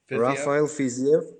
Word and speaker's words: Rafael Fiziev: The fight that I'm really looking forward to is Bobby Green and how do you pronounce? What is it? Rafael Fiziev. Rafael Fiziev.